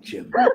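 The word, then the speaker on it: Gyn: It's G-Y-N, Jim.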